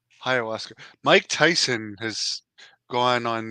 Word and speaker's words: ayahuasca: No, I think it's Hayabaska. Is that how it's pronounced? The uh the plant? What's it called again? Ayahuasca. Ayahuasca.